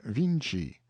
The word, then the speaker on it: Vinci: own tongue he says they spell the name of their great painter viny but pronounce it Vinci and then adds with